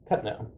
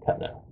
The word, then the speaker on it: Cuttino: How do you say it? Cuttino, but that's a South Carolina accent because the French name is Cuttino, and we immigrated over